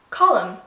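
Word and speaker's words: Colm: you want to pronounce Column the best way I would describe this would be like the word column like a column on a page that's kind of the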